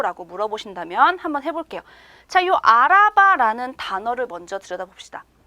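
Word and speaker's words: araba: 명사가 있습니다 자동차 자요 자동차는 터키어로 알아봐 알아봐 이렇게 발음이 되거든요 차 근데요 자동차는 명사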